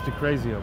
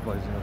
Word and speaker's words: de Blasio: Well, it's pronounced DeCrazio, by the way, not DeBlasio, but yeah.